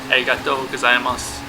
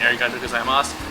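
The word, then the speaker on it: ありがとうございます: In our travels, I learned that if you kind of stress the last syllable a little bit longer, it sounds a lot more natural and it sounds a lot more like the way the natives do it.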